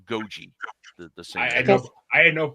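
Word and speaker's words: Gogi: But anyway, yeah, and it's Goji. I've always heard her name pronounced Goji.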